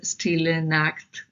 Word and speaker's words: Stille Nacht: So Stille Nacht, yeah, it's pronounced as Stille Nacht.